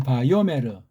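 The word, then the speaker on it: ויאמר: 바오메르 바오메르 바오메르 바오메르 세상실하면 바요오메르 그 요라고 하는 건이 요드라는 예 요드라는 자음을 소리를 모르는 것이고 알래프라는 소리를 내지 않는 거예요.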